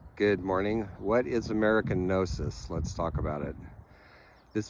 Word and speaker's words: Gnosis: So Nosis is a word with an interesting history. It's spelled G N O S I S.